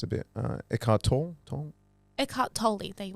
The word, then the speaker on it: Eckhart Tolle: say his name is it's a bit uh eckhart tolle it caught totally there you are yeah so